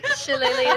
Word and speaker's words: Shillelagh: No, Shillelagh is indeed how it is pronounced, yes.